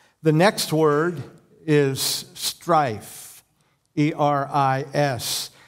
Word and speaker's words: eris: The next word is strife, E-R-I-S. You pronounce that eris, eris.